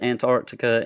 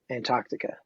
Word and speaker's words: Antarctica: first permanent base on Antarctica. I mean, I grew up saying Antarctica, but Americans say Antarctica, which is actually correct. So I'm trying to correct myself.